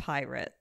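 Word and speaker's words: Pyrt: is he doing that it's spelled stupidly it's like p-y-r-t and it's pronounced pirate I hate that man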